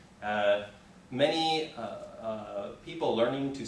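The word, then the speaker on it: 妈: okay and it's pronounced ma okay and the first tone the first tone is a flat tone like this okay and so this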